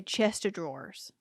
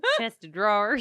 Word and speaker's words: chest of drawers: my southern upbringing what how do you say chester drawers god not like that chester draws a chest of drawers that's not how you say it where i'm from